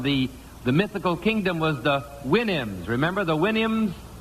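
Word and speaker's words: Houyhnhnms: It was from Gulliver's Travels, but it was from the mythical kingdom was the Winnims. Remember the Winnims? Supposed to pronounce it like you do a horse's whinny, I think.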